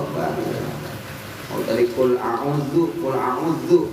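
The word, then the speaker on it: أعوذ: tadi qul auzu, qul auzu panjangin onnya qul auzu begitu biasanya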